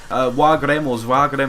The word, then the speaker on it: Waregem: But as soon as we did go 1-0 up, Waregem, that's how you pronounce it, they had a couple of good chances here.